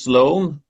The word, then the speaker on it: Sloan: And next up is Sloan. Is that the correct pronunciation of your name?